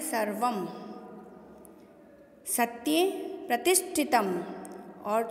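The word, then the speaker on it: सर्वम्: अनुस्वार कहते हैं और अनुस्वार का उच्चारण संस्कृत में मैं से होता है। तो आप इसको सिर्फ सर्व नहीं पढ़ के इसको पढ़ेंगे सर्वम।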